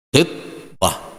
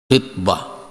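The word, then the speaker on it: خطبة: Khitbah. Hati-hati membacanya yo. Khitbah. Baris di bawah khannya. Sebab kalau baris di depan biasa dia tuh khutbah.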